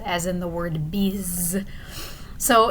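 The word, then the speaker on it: bise: you to notice with this word bees right here b-i-s-e this is the french word for kiss and you might notice that the s in the middle of that word just kind of sounds like a z does in english so we'll notice as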